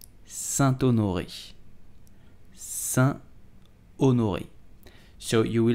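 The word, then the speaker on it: Saint-Honoré: it you will say Santo Norwich Sun onoi so you will have to make a link between the T and you will say Santo Nuri did you know that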